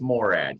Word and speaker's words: Morad: out with Jeff and is it actually pronounced Morad or you nailed it that's perfect not even everybody in my family says it that perfectly it's Morad yes well I had come across an article